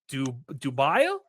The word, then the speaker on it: Dubail: Obviously, Daniel Dubail Yeah, I want well, to say in French it's actually Dubai, but yeah, in English that works.